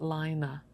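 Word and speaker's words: Laine: of this publication um everybody wants to pronounce it as lane which is the french word for wool but this is actually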